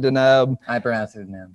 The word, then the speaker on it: Deneb: How do you pronounce it? I pronounce it Deneb.